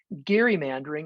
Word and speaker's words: gerrymandering: actually it's actually gary it's pronounced the hard g um so uh occasionally people who want to show that they really know what they're talking about we'll say gary mandering instead of gerrymandering and from a technical